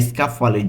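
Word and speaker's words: scaffale: ইতালিয়ানসফালেসফালে অর্থ তাকসফালে তাক এখানে সকাফলের যে উচ্চারণটি রয়েছে সেটি একটু ভুল রয়েছে সকাফলে হবে তাক এরপরে চাবি এর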